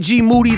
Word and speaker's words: Moody: Plus, me and GMoneti, last name rhymes with duty, are going to be talking about the monkeys down in Florida that are giving human beings herpes.